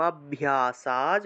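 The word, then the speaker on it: অভ্যাসাৎ: শ্রেয় হি জ্ঞানম অভ্যাসাজ, ভয়ের সাথে জফলা থাকায় ভিয় উচ্চারণ হবে, ভিয়, অভ্যাসাজ।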